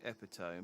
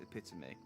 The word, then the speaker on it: epitome: off to pronounce it misled by its sperling epitome but the pronunciation is epitome yeah you had me second guess myself so